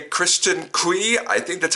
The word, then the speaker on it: Cui: I gotta say Kristen Cui, I think that's how you pronounce her last name. It's spelled C-U-I, so I pronounce it Cui.